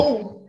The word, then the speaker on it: vou: Vou. Avô. I heard I go. Eu vou. Eu vou. Avô. Be avô. Careful when you pronounce grandfather and when you say I go. I go, eu vou.